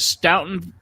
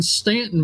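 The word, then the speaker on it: Staunton: Now you are in, what is it, Stoughton? No, sir. I work in Stanton, Virginia.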